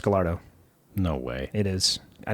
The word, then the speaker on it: Gallardo: It is pronounced Gallardo. No way. It is. I know the look you gave me, I knew exactly what you were thinking. It's technically pronounced Gallardo.